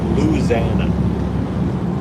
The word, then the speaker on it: Louisiana: accent they call it Louisana louana instead of the five syllable Louisiana they just say Lana a very fun accent